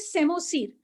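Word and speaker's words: psammosere: अच्छा, उसके बाद है व्हाट इज सेमोसीर, पी साइलेंट है यहाँ पे। What is सेमोसीर?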